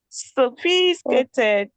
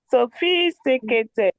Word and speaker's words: sophisticated: s s s s sophisticated not sophisticated sophisticated again sophisticated no you're skipping a syllable sophisticated sophisticated sophisticated okay that's better thank you Abdullah Ah, please unmute.